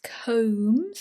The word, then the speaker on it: combs: such as bed shapes combs or towels this bee here is silent combs or even infected soil